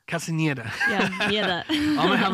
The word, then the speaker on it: Hana Castañeda: How do you pronounce it? Hana Castañeda. Castañeda.